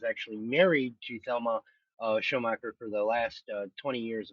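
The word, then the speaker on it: Schoonmaker: uh uh Thelma and I always mispronounce her last name it's actually pronounced as showmaker um uh have a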